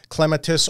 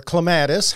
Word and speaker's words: clematis: listeners and that is clematis or clematis however you want to pronounce it and Proven Winners color